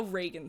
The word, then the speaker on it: Reagan: that is also how Reagan spells his name and Alejandro until like recently was like his name's pronounced Reagan but because of you